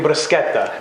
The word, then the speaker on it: bruschetta: We're making bruschetta. Bruschetta. That's the proper way that an Italian pronounces it? The true Italian way to say it.